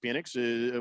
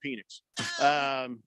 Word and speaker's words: Penix: Prison Wallet says, can you imagine the flags Penix would get for taunting? Junk Food Jake says, Texas is big on guns and hard on Penix. It's Penix, Wow, right?